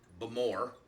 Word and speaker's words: Bowmore: the aisle of Isa bamore as it they use the uh second syllable as the emphasis what is the yeah